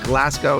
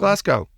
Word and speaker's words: Glasgow: Glasgow. What's wrong with Glasgow? Glasgow. You make it sound like a cow.